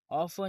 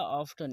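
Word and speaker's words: often: ऑफन या ऑफ्टन, इसे दोनों तरह से प्रोनाउंस किया जाता है।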